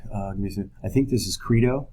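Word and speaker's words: Crito: i think this is credo some people pronounce it crydo but credo you might want to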